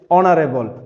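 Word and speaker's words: honorable: কিন্তু ব্যতিক্রমের বেলায় এইচ এর উচ্চারণ যখন অ অথবা আ হবে, যেমন আওয়ার, অনেস্ট, অনারেবল, তাহলে এখানে এইচ এর উচ্চারণটা হ হয় নাই, কি হয়েছে?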